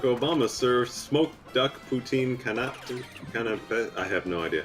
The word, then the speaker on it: canapé: When President Barack Obama served smoked duck poutine canapé, I have no idea how to pronounce it.